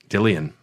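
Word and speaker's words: Dillion: Dillian. It's pronounced, but they got it wrong.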